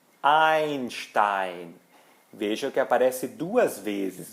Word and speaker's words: Einstein: digo ou famíliaa Schneider ou o famoso físico Einstein Einstein veja que aparece duas vezes o e i